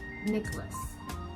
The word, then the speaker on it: Nicholas: A lot of people pronounce the letter N, but actually that is not correct. Okay? So again, that should be Nicholas.